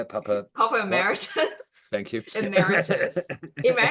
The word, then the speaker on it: Papa Emeritus: Papa Emeritus.